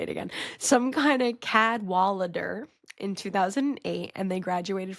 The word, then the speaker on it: Algernon Cadwallader: Cad Wallader. Cad Wallader. Algarnon Cadwalader, I think is actually how you pronounce it.